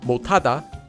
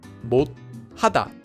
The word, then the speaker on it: 못하다: At the end of a syllable, if one of the 7 consonants isn't followed by the empty consonant, it becomes pronounced as a digut. So this syllable is pronounced as 못, making the entire word 못하다, 못하다.